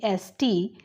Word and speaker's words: honest: For example, silent letter H in the words honest. Now the spellings are Honest, but it's pronounced as honest, so he is an honest man.